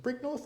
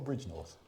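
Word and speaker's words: Bridgnorth: Is it Brig North or Bridge North? Bridge North, I think.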